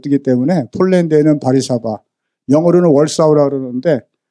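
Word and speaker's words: Warszawa: 폭격당했잖아요 그리고 다 비행기가 못 뜨기 때문에 폴랜드에는 바리사바 영어로는 월사우라 그러는데 W 발음이 폴란드는 디바리맨에서 바리사바라 그러는데 바리사바에 도착해서 자동차로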